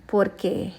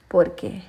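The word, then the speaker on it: porqué: क्यों, और ये आएगा पोरके, पोरके, ठीक है, पोर के। अब मैं आपको ये भी बता देती हूँ, एक और पोरके होता है, उसको भी हम पोरके कहते हैं, ठीक है, लेकिन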